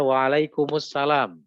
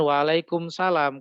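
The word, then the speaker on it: وعليكم السلام: dinakirohkan ada ada penjelasannya jadi wa'alaikumussalam jangan Waalaikumsalam kalau Waalaikumsalam berarti salamnya nakiro karena nggak ada Alif lamnya kemudian berikutnya dua kalimat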